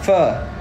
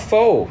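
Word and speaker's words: phở: he's like huh he's like sir like yeah fur fur I don't know whatever I just I just want foe you know anyways we got foe this is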